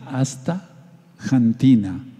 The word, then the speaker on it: astaxantina: palabra corrida x antena3 pronunciar como si dijéramos méxico o méxico pero lo más correcto es decir hasta cantina hasta cantina explicó la